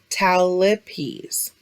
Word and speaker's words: talipes: in rare occasions can be acquired remember the pronunciation for this is talipes and finally we have torticollis which is a